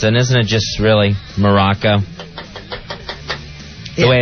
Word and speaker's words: Morocco: And isn't it just really Morocco? The way it's pronounced. Yeah. You don't actually hit the Moor really hard in Morocco.